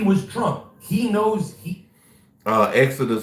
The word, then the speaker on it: XODUST: Exodus 1. But it's not spelled like Exodus. It's XODUST. 1. Exodus 1.